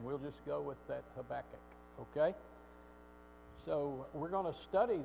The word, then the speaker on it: Habakkuk: say this guy's name well if you go to Strong's it's have AK Cup but if you go to Harper pronunciation guide it is of Habakkuk which is the way we're gonna go with because that's the one I hear a lot up I don't know